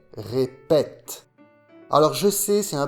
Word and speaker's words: répète: Le son et, répéter, devient est, répète.